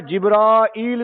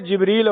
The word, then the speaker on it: جبریل: جبرائیل علیہ السلام کا، جبریل بھی ٹھیک ہے، جبرائیل بھی ٹھیک ہے، یہ تلفظ کئی طرح سے ہوتا ہے۔ جو کوئی ہے دشمن جبرائیل علیہ السلام کا، یہودی کہتے تھے جبریل ہمارا دشمن ہے، اسی